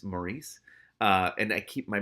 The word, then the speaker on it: Maurice: It's hard to say Morris sometimes because my dad's name is spelled the same way, but it's Maurice.